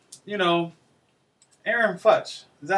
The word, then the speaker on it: Aaron Fuchs: know, before I want to say, you know, Aaron Futch. Is that how you say his name? Aaron Fuchs.